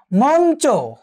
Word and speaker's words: মঞ্চ: একটু খেয়াল করো প্রিয় শিক্ষার্থীবৃন্দ, যেমন দেখো মঞ্চ, মঞ্চ, বাঞ্ছিত, অঞ্জলি, বাঞ্ছা। একটু খেয়াল করো প্রিয় শিক্ষার্থীবৃন্দ, মঞ্চ কার মতো? নয়ের মতো হলো।